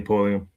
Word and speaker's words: Pulliam: Yeah, Lee Pulliam.